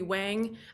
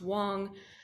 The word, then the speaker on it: Wang: please the court, Wang. I erased my Chinese first name. I mispronounced my Chinese last name, which is pronounced Wang, for the plaintiff.